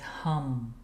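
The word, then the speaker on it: हं: The sound here is hum. H A m.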